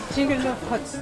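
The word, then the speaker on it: Zhingyalov hats: Jingalov huts. Jingalov hut. Jingalov huts. Yeah. Jingalov huts. Do you know how to spell it in English letters? Oh, No. Okay. Jingalov huts.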